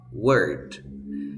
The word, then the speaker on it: word: claro cierto recuerda esto las palabras verbo primero palabra y carbonizar se pronuncian con la misma vocal por ejemplo se pronuncia